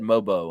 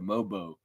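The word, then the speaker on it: Mogbo: it should have said mobo on there moo the g is silent the g is silent that's right mobo moo moo Lexa giannis's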